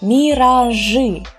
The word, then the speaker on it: миражи: We write и here and here, but these two consonants are always hard. They just were born hard and it's their nature. So we will still pronounce them hard, as if you were saying Ж with an У and Ш. Ш. So миражи, малыши.